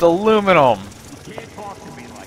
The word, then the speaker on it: aluminum: It's pronounced aluminum. It bothers me. I just don't like the way people pronounce it like that.